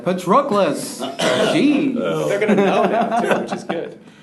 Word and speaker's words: Patroclus: Patroclus.